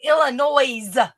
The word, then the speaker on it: Illinois: Yeah, you're up in Illinois. Hey, the S is silent.